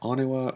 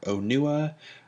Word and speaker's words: Onua: that's a nua actually it was never really clear if it's pronounced Ottawa or Oh Noah according to the according to the pronunciation guide both are correct but anyway we have